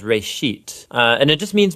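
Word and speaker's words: בראשית: it's called Genesis Genesis comes from a Hebrew word Uh It's pronounced R sheet Uh and it just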